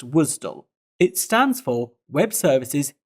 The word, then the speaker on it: WSDL: about first is WSDL which is normally pronounced wisdom it stands for web